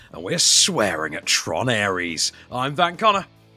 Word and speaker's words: Ares: How do you pronounce the second part of that? Aries. Aries.